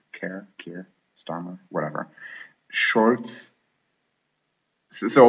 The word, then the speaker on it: Keir: I mean, it has enough very snore-festy people like Keith, Keir, however he pronounces his name. I know it's not Keith. Keir, Starmer, whatever.